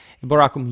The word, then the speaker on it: Eboracum: By the way, from the 4th century, conventionally start using the ecclesiastical pronunciation of Latin, so just my arbitrium, but I said it long ago and I'll stick to that.